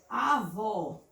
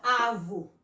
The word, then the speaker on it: avó: Como, por exemplo, avó. Não fica avo, não é? Mas quando eu coloco o acento, fica avó.